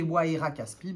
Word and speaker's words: Waira Caspi: Alors, le Waira Caspi, prononcé Waira Caspi, bah voilà, j'avais bien dit, est un grand arbre d'Amazonie et un allié très précieux.